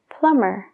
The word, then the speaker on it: plumber: lam fontanero plummer plummer fíjate bien la última parte es mer entonces esa B Es como si no existiera plum plumber y crum DEA crum